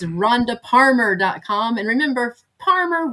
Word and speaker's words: Parmer: And remember, Parmer rhymes with farmer, but starts with a P like Paul.